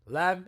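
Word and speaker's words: لا: Hamza l l l it's literally Lam and alif put together so it's pronounced like La unless by itself La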